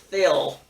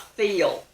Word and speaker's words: Phil: name is phil and the college professor told him his name was pronounced fill not feel i guess that's true